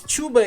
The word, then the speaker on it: cuba: it's wrong all right cuba is not the country cuba uh pronounced wrong no it's not it's chuba is a word in malay it means try so if you translate